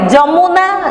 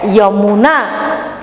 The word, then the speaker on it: यमुना: हम लोग अगर इसको लिखेंगे, इसको उड़िया में आप क्या पढ़ेंगे, जमुना, लेकिन नहीं, हिंदी में आप इसको क्या पढ़ोगे, यमुना।